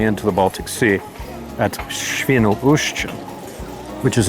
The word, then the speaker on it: Świnoujście: Szczecin and finally into the Baltic Sea at Świnoujście, which is not as easy to say as I made it sound, obviously. Świnoujście.